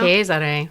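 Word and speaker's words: Cesare: say it right now cheser cheser cheser yeah little Italian to it you want to be like Cesar and they're like no ches CH it's fun it is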